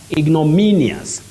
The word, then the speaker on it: ignominious: have it Peter Walker ignominious ignominious the stress is on me ignominious then we have